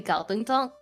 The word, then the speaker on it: Kowloon Tong: Actually, because a lot of Cantonese like cities, the romanized forms may say like spell it as a K. For example, like Kowloon Tong and other things like that. But in Cantonese, it's actually supposed to be a G.